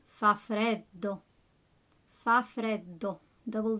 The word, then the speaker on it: freddo: Fa freddo. Make sure you pronounce those double D's. So not fa freddo, fa freddo.